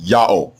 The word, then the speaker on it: Yahweh: He was told by Hebrews in the 1st century BCE that the proper name of the God of the Hebrews is pronounced Yahweh, exactly in agreement with the Egyptian record and with the much later Assyrian record.